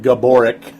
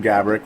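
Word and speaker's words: Gaborik: two overall wild got Maran Gabor as Doug Riso said it but yeah Maran gabrick when they pronounce it more correct later on uh but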